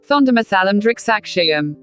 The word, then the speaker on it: Thondimuthalum Driksakshiyum: Thondamasalam Drixakshayam. हाँ, तो यह है इसका करेक्ट उच्चारण, जिसका मतलब होता है the Manor and the witness, मतलब एक आंखों देखा गवाह और एक प्रदर्शनी।